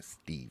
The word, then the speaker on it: Steve: syllable too you're like i'm not stephen i'm a steve yeah yeah that makes